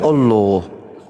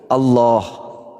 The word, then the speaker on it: Allah: itu kan yang di Bukan Allah. Allah. Allah Allah Ya, jadi di ejaan Arab itu tidak ada huruf O.